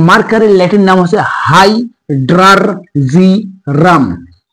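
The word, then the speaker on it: hydrargyrum: মার্কারির Latin নাম হচ্ছে high ড্রার জিরাম মার্কারির Latin নামটা একটু উচ্চারণে একটু অনেকের সমস্যা হয় এবং এটা পলিসিলেবল ইংরেজিতে পলিসিলেবল বলে পলিসিলেবল উচ্চারণ করতে হয় যে হাইড্রারজিরাম তোমরা এভাবে বলবে যে হাইড্রারজিরাম এটা হচ্ছে মার্কারির ল্যাটিন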